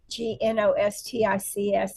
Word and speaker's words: Gnostics: But um so recently in in my conversations um they mentioned to me the Gnostics G N O S T I Cs and I'm probably not even pronouncing it right, but the Gnostics.